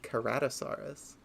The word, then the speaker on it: Ceratosaurus: Another cursed one is that the C in Cerato, the root word, is pronounced with a K noise. So that means you don't have Triceratops and Ceratosaurus. You have Triceratops and Ceratosaurus.